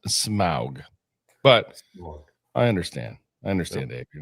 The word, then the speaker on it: Smaug: Smog. Seriously? I believe it's pronounced Smaug.